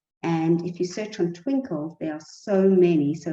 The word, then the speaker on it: Twinkl: And if you search on Twinkle, there are so many. So it's spelled Twinkl.